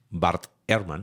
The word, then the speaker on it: Bart Ehrman: Uno de los ateos más famosos, Bart Ehrman, así se pronuncia, que antiguo cristiano que hoy ataca tiene una posición muy interesante de ataque.